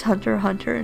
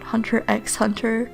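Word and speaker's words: Hunter × Hunter: getting into it that it's pronounced hunter hunter not hunter x hunter i'm on season three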